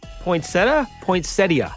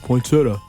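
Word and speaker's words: poinsettia: you do it the is that the proper way it is my mom has been drilling that into my head my whole life and I'm in my late 50s really everybody I grew up with was like poinsetta poinsetta no I know me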